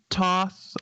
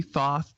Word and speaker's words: Thoth: at all no no if some people say toss i say thoth i try to say but it never sounds right yeah that kind of